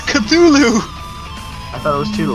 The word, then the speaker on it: Cthulhu: references it's about apparently an anime girl who's chew to live i'd still it anyway i